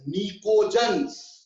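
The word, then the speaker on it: pnictogen: उसके आगे नाइट्रोजन family है बेटा, नाइट्रोजन फैमिली को एक और नाम दिया जाता है बेटा, नाइट्रोजन family is called as निकोजन्स, PNICHOGEN, निकोजन, E silent है, PNICHOGEN, निकोजन्स बेटा, निकोजन्स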